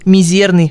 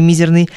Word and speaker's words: мизерный: На самом деле катарсис, ударение это из древнегреческого. Катарсис, а не катарсис, пеня, а не пеня, талика, а не толика, мизерный, а вовсе не мизерный.